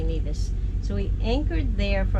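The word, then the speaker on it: Nevis: over to neas and I think that's how you say it it's neevis neas whatever but I hear the some people say Nas so we anchored there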